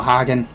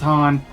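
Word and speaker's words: Hien: namely battle with you, Hagen. Wait, no, it's pronounced Han, like Khan.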